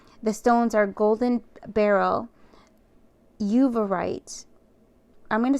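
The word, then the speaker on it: uvarovite: you often right the stones are Golden Barrel uite I'm going to spell that it's u v a r o v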